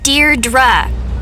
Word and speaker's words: Deirdre: Deirdre. I know it's got that tricky second syllable, but I figured it out by age 2.